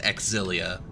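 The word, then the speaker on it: Xillia: ca um they they they pronounce it exilia for some reason to to make it three syllables um but i would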